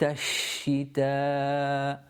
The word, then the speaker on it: الشِّتَاءِ: So here, إِلَافِهِمْ إِلَافِهِمْ رِحْلَةَ رِحْلَةَ رِحْلَةَ الشِّتَاءِ. Here the sheen has got a shadda on it, so you're pronouncing two sheens.